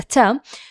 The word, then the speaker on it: ت: dots, two dots, and the ta, the pronunciation of the ta in two is the same pronunciation as the t here.